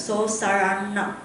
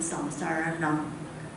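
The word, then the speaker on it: saraṇa: So sarana. If you want to be sarana with the R, with your tongue curl and you pronounce the N sound, sarana.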